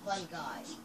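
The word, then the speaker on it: fungi: Yeah, well, it's spelled F-U-N-G-I, but it's pronounced fun guy.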